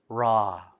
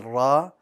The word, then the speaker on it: ر: pronounced as an r ra if you can hear there's a slight difference between the two rabbika rabbika i pronounce one with a ra and the other with an english r you don't want them